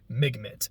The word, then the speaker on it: MGMT: ahead and say that my understanding is that MGMT is an abbreviation for management or the management. So I will be referring to them as that. Although occasionally facitiously I might just pronounce it as Migmitt because I don't know I find that funny.